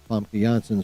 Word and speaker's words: Famke Janssen: The Russo brothers saith when asked if Avengers Doomsday will reveal what happened to Jean Grey, Famke Janssen's version, that's how her fucking name is pronounced, by the way.